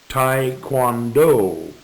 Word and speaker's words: Taekwondo: Note, there are various ways of pronouncing Taekwondo, and I use the Oxford Dictionary version, American pronunciation, which sounds like Taekwondo.